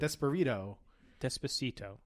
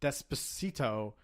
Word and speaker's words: Despacito: Desperito? Despacito. See, now you're getting angry that I'm Yes, mispronouncing it It's because you love it's Justin the Bieber it so much.